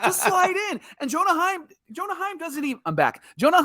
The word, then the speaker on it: Heim: Because his last name is Heim, and it rhymes with Anaheim, and maybe they thought it was an Angels call, and that's exactly what happened.